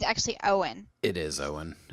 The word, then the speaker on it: Eoin: It is Owen. It's Yeah, Irish, and I can never do. it's spelled like E-O-N, but Mm-hmm. I think it's Owen. It's EOIN, E-O-I-N. but Okay. it's still Owen.